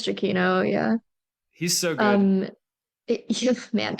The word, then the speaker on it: Giacchino: I don't know how you pronounce it. Michael Giacchino. Giacchino? Okay. I think it's Giacchino, yeah.